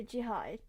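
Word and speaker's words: Gérard: But Gerard, or Jihad, in French pronunciation, I mean, it is an opera that is French based but Italian made.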